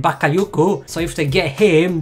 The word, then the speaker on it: Bakayoko: That's, I think, how you say it, Bakayoko.